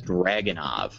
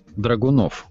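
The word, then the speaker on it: Dragunov: pronounce the name of this Russian sniper rifle as dragonov it's actually pronounced dronov are usually pronounce the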